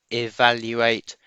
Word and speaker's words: evaluate: sound of the word it begins with an e sound we write it as an e that's an ear sound evaluate and like i said earlier evaluate has got four syllables e val u eight so there's the sound